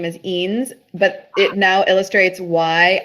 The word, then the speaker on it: Eanes: There's only two ways to mispronounce his name, and it's either as Enos or Anus.